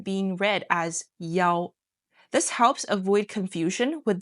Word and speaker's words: 幺: Also, specifically when giving out a phone number, the number 1 is pronounced as 幺 instead of 一 that we learned. That's why in the text you heard the number 1 being read as 幺.